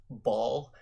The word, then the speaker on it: Baal: to go uh geezy it's actually pronounced ball well i don't really care i play diablo 2 and seeing that spelling it can be nothing but baal all right but you